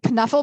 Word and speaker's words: Knuffle: Knuffle Buddy, which by the way you should be pronouncing the K in that, from Mo Willems, is one of my absolute favorite children's authors.